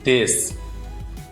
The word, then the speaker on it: です: So desu, desu, but it will pronounce like des.